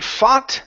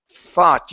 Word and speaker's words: thought: If you say fought, that means fight in past tense. We're not saying fight. It's thought. Use your tongue and your teeth.